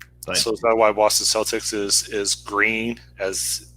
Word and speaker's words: Celtic: ze l TI c no it's it's pronounced celtic unless you're referring to the boston celtics how the Celtics failed it's the same it's just on the oxygen here's the Boston Celtics spell it that way and they're pronounced that way but in every other context its Celtic oh won't that be